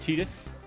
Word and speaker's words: Tidus: titus it is titus it has been verified by the game developers that it is pronounced titus matijs sounds stupid so